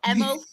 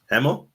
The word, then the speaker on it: Hemel: I love as well how you can say it properly, whereas I go Emil. Emil. How do you say it, Anne? Hemel? Yeah. Jen? Hemel. Oh, it's just me, Kieran. Emil. Oh, I was hoping one of you went Emil. Like, Hemel.